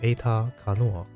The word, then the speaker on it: Aeter Canoir: you guys might know my name is the japanese is pronounced as eta kanoa that's a very